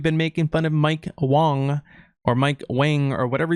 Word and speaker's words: Wang: Actually, he told us his name isn't pronounced Wang. It's actually pronounced Wong. So for now on, guys, when you guys make videos about Mike Wang, it's actually Mike Wong.